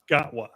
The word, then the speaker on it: Gatwa: Chewy Uh, Gatwa. Is that right? Chewy Gatwa. Is that the correct pronunciation?